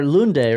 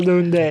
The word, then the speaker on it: Lunde: Yeah, and our next guest is all the way from Sweden, and it's Vidar Lunde, right? Lunde? I mean, you're gonna butcher it anyway, so Yeah. let's go for Lunde.